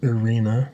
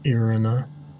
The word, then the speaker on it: Irina: Okay, so apparently I've been saying the name wrong. It's Irena, not Irina.